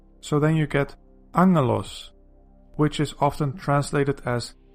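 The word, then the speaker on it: ἄγγελος: You might be tempted to pronounce this word as aggalos or agelos, but the double gamma is actually pronounced as ng. So then you get angelos, which is often translated as angel, and it means messenger.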